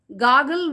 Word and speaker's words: gargle: இதுல வந்து R silent. So ஆர் நம்ம வந்து ப்ரொனவுன்ஸ் பண்ணக்கூடாது. ஸோ gargle with salt water இல்ல gargle with warm water அப்படின்னு சொல்லலாம்.